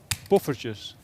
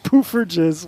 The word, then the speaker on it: poffertjes: Buffertjes. What the hell? No way. Buffertjes. Pooferges.